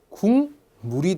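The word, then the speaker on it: 국물: 들면서 얘기를 나눠 보죠 자 발음하면 궁물이 되죠 그렇죠 궁물이 됩니다 자 공식 고대로 저희가 확인을 해보죠 자 기역이 뒤에 미음을 만났습니다 기역이 미음을 만났습니다 비음 셋 중에 하나로 변하겠죠 자 역시 이응으로 변했습니다 비음이 아니었던 기억이 비음으로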